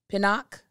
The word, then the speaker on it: Pinnock: Is it Pinnock? That's how you say her name.